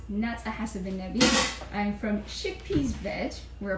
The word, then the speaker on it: Hasebenebi: know me, my name is Naza Hasebenebi, or pronounced Naza Hasebenebi.